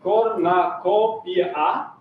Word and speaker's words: cornucopia: And it sounds like cornucopia in American pronunciation. In British, it's a bit different, I would say.